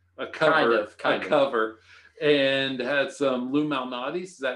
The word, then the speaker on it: Lou Malnati's: And had some Lou Malnati's. Is that how you pronounce it?